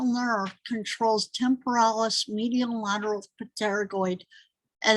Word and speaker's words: pterygoid: If you say, what cranial nerve controls temporalis, medial lateral pterygoid, and that P is silent, so it's pterygoid, and masseter muscles, it will tell you what cranial nerve is involved.